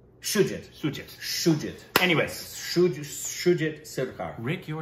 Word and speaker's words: Shoojit: But yes, starring those two, directed by Sergit, right? I believe so. I believe that's the proper pronunciation. Forget Sergit. Let me see the spelling again so we pronounce it right. Sanjit? Shoojit.